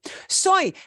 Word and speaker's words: soy: the word I okay soy that looks like soy sauce and it's pronounced the same way as soy sauce soy soy means